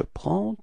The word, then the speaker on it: prends: Okay, so final S and then the D before, you don't pronounce them.